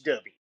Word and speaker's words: Dubby: Not Doobie, it's Dubby.